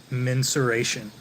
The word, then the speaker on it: mensuration: a specific specific skill called Target mensuration rhymes with menstruation but the word is mensuration so mensuration is uh